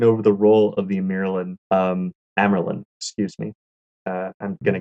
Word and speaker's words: Amyrlin: Just think of it as Amyrlin, because it's Merlin, the wizard, Amyrlin.